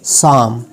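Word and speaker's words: psalm: Pneumonia, P एन या P silent है। और उसके बाद पी एस के साथ जो आया है साम, क्या है, साम।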